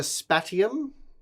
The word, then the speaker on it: Spatium: All right, so the Spatium, that is how you pronounce it.